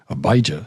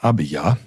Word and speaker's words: Abijah: mother's name was and I think it's usually pronounced abijah is what I've heard but I think probably better abya and sometimes ABI the daughter of Zechariah